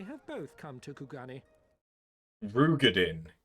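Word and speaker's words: Roegadyn: Rugadin is how you say it. Not Rogadin.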